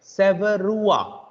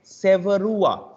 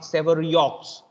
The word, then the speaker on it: Sevreaux: But it's actually pronounced like Severua. I repeat again, it's actually pronounced like Severua. I repeat again, Severua. Severua. It's not Severiox.